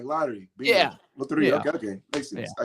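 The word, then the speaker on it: Lotería: Pronounce it again. Loteria. You're gonna ask I'm the white guy in the family to say. If you're playing it, you gotta no excuses. Loteria.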